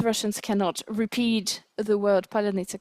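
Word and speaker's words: паляниця: It was a Russian propaganda TV program, and the anchor Skabeeva said polunitsa instead of palyanytsia. She mispronounced that word.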